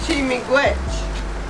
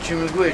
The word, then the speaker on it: Chi miigwech: Chi miigwech. Who? Chi miigwech. That means I thank you Oh, thank you. in my language. Chimigwich. Is that I say it right? Chimigwich? Chimigwich. Yeah.